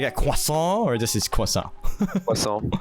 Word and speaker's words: croissant: Like, out of curiosity, how would you, as someone from France, pronounce this word that I sent you on your DM? Oh, let me check. Croissant. Croissant. Oh, wait. I have to learn this. Croissant? Did I say it right? Yes. Yeah, croissant. Alright, so it's a croissant. Because a lot of people say croissant, croissant, like a croissant. The accent. Yeah, croissant, yeah. Okay, so do you have